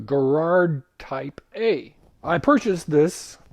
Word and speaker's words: Garrard: received the Gerard table and I guess it's pronounced Gerard as opposed to Gerard which I mispronounced for many years it wasn't